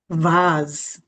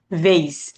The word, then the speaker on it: vase: ঠিক আছে, তো এটা উচ্চারণ হচ্ছে ভাস, ভাজ। ঠিক আছে, Vase. ভাজ। ভাজ বললে হচ্ছে ফুলের তোড়া, মানে ফুলের যে টপ এটা বোঝাচ্ছেন। আর আমেরিকান প্রোনাউন্সিয়েশনটা এরকম Vase. ভেইস।